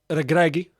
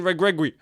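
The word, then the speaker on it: Regragui: goes too the manager um wellid regragi as it's actually pronounced I've been saying uh someone I know rightfully pointed these Moroccans he's like stop saying Gregory and I'm like I'm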